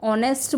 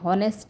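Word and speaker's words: honest: है, हमारा कॉन्सोनेंट है, लेकिन जब हम इसको पढ़ते हैं तो हम ऑनेस्ट बोलते हैं, हॉनेस्ट नहीं बोलते हैं।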